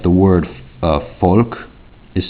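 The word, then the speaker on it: Volk: not in uh german the v in german makes like an f sound often times like the word uh folk is spelled v-o-l-k but it's pronounced folk and it means like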